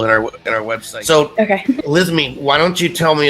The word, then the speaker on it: Elizmi: You are, Elizmi. Perfect. Sweet. I'm horrible at pronunciation, so...